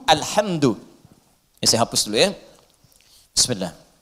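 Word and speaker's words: الْحَمْدُ: bidah Ya paham ya jadi bacaan di semua para pembacanya itu mendamahkan huruf Dal di alhamdu ya alhamdu alhamdu saya hapus dulu ya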